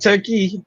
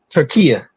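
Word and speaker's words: Türkiye: It's not Turkey. It's pronounced different. They asked to be pronounced differently. I was waiting to see if you caught on to it. I didn't hear that part, and it's spelled Turkey. So unless they spelling it different, they are spelling it different. It's like Turkinia. Right. Oh, okay. What is it? Turkiya. That's the new pronunciation.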